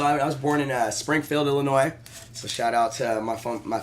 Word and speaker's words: Illinois: I know you're from Illinois. I was born in. Yes, thank you for pronouncing it Yeah, I correctly.